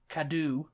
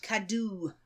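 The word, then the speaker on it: Cadw: environment Scotland in Scotland kadu in Wales kadoo which is spelled c a DW and Northern Ireland environment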